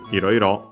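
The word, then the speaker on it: いろいろ: Iroiro, unaccented, like Iro on its own.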